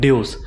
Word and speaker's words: Devs: English alphabet V but the Roman alphabet V which is pronounced as you thus it is form the word Dios which means God in